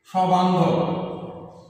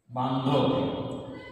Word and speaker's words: সবান্ধব: যেমন আমরা একটা উদাহরণ নিয়ে আসি, সবান্ধব। সবান্ধব। তাহলে এর উচ্চারণ হবে, যেহেতু দন্তুস্বটার সাথে অর্থে ব্যবহার হয়েছে, এই জন্য তার উচ্চারণ দন্তুস্বর সাথে যে অটি আছে তার উচ্চারণ বিবৃত হবে।